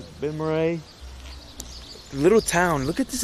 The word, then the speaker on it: Balmorhea: So it was raining earlier, and I'm in this small town here in Balmorhea. I think that's how you say it. Balmorhea. Balmorhea.